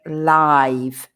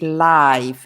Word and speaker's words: live: you can play live remember the pronunciation is live not live live is the verb to live i live in valencia but live means um not recorded like uh you're playing really playing in real time to rehearse is to